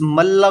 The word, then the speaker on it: मल्ल: और इस मल्ला को ना, वैसे नाम इसकी प्रोनाउंसिएशन है मल्ला, लेकिन आप इसको माला से करो।